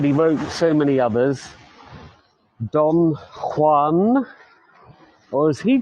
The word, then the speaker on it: Don Juan: wrote so many others Don Juan or as he called it Don Juan because it rhymes with true one now I'm not a